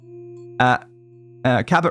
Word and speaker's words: Cabot: Cabot rhymes with rabbit.